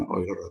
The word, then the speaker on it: Euler: dengan persamaan Euler ya, atau bacanya Euler atau Euler ya.